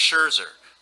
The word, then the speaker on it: Scherzer: else um max scherzer i'm a may she pronounce it right we worked on that for like 10 minutes before it is max scherzer why him um he seems very down to